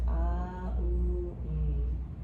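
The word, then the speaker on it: Aum: Some people spell it O-M. Think of it as A-U-N. It's going to start Ah-U-M. The Ah radiates within the head, the U resonates in the throat, and the vibrates in the chest.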